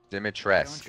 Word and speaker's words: Dimitrescu: Dimitrescu, okay, that's how you say it.